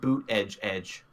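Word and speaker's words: Buttigieg: already he's only 36 Oh pronounced boot edge edge no no that he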